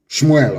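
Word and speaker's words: שמואל: Shmuel, of course, correct pronunciation.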